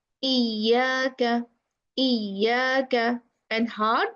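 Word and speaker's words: إياك: Exaggerating the sound during articulation and pronouncing a thick sound when it has a shadda. Iya, iyaka. The right pronunciation is iyaka, iyaka.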